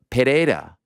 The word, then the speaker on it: Pereira: ah so it's the when it's a double r Double R you pronounce R sounds like the r in the beginning of the word if that makes sense